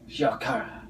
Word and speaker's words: Shiokara: From Japan, so you say it like this. Shiokara.